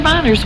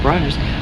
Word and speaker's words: Bronner's: Bonners was not, Bronner, how do you say his name? Bronner's was not that bad.